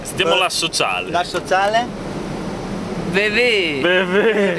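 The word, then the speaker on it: Beauvais: Allora, per provare la pronuncia francese, sentiamo come si dice BV. BV. BV. BV. Sentiamo la sociale. La sociale? Bevè.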